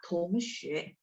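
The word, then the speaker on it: 同学: Tongxue, T baca TH, Tongxue.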